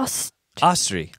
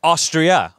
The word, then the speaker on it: Astrid: uh and one thing the D is actually silent noran asri asri asri AUST it's kind of like a austri austri austri like Austria austri oh yeah austri austri kind of like